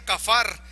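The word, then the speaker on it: kafar: de una palabra hebrea esta palabra se se pronuncia cafar y su significado ya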